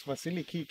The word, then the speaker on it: Vasiliki: Next to me is Vasiliki Vasilio. Did I pronounce it right?